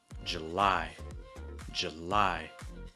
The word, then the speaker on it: July: July. Starting with a schwa sound. Schwa like j, and then lie.